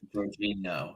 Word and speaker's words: Jorginho: The one thing I was very active about was the signing of Jorginho, as I like to call him. Oh, is that how you pronounce it? Jorginho, yeah.